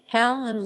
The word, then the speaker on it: Halland: halland helen's swedish pronunciation hal and listen is one of